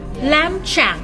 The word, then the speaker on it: lamb: This is lamb shank น้องแกะตุ๋นนั่นเองลามตรงนี้นะคะเสียงตัว B ไม่ออกเสียงนะคะเป็น silent letter แล้วก็ shank shank เสียงตัว N ตรงนี้นะคะออกเป็นเสียง NG ออกว่าดังนั้นคำนี้ออกว่า lamb shank Active education inspire